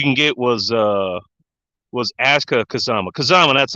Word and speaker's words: Kazama: Kazama, that's how you pronounce it.